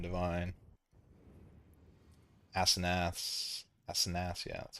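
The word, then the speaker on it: Asenath's: Asenaths, yeah, that's how you say it.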